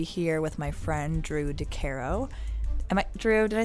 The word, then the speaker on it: Decaro: I've started to go with Decaro because it damn near rhymes with guitar, and so that's as good a reason as any, I think.